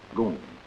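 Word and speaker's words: GUM: state operated department store the Goon spelled g u m pronounced goom my visit to the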